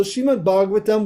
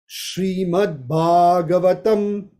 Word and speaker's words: Srimad Bhagavatam: So Srimad Bhagavatam, we read that regularly, but do we know how to pronounce it? Srimad Bhagavatam, Srimad Bhagavatam.